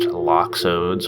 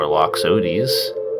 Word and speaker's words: Loxodes: I've heard this pronounced loxodes or loxodes. Take your pick.